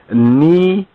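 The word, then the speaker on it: נצבים: within our booklet, but if you were to look at the Hebrew, it will actually be NETSABIYM, according to the Nukad,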